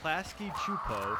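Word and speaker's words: Klasky Csupo: the Rugrats and the Wild Thornberrys, both from Klasky Chupo, we looked that up, that's how you pronounce it, met up in a full movie called Rugrats Go Wild.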